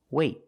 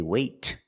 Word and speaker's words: wait: Then we do a stop T. That means you put your tongue up in the T position, but you don't release. Example, wait. Wait. I don't say wait.